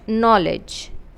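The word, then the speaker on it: knowledge: है then you have O W exception O डब्ल्यू की औ साउंड नहीं है। We have short O sound औ सो न ओ knoll then you have as English words जे से एंड नहीं होते। सो ज साउंड के लिए हम यहां पर जे के बजाय डी जी ई यूज़ करेंगे। So short E sound and ज एज नॉलेज।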